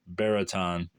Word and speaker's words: Buriton: nestling under the Downs the name of the villages pronounced as it is often spelled bariton but in the Dom's